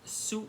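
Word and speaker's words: Sou: if I don't but the actual pronunciation is Su because the letters of the name is s-o-u so so if you're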